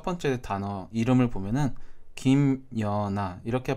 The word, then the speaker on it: 김연아: 우리가 이 첫 번째 단어 이름을 보면은 김연아 이렇게 발음하는 경우가 많은데 사람에 따라서 니은을 첨가시켜서 김연아 이렇게 발음하는 사람도 있습니다.